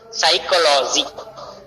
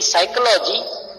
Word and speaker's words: psychology: For example, psychology. In psychology, we can write to one letter P, but P is silent in that.